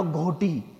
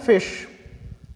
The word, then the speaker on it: ghoti: गोटी, कुछ ने कहा घोटी, ऐसे ऐसे टर्म्स आए होंगे, बट इट इज़ नॉट घोटी। ना ही इसे घोटी बोलेंगे ना इसे गोटी बोलेंगे। इसका प्रोनाउंसिएशन होता है फिश, FISH।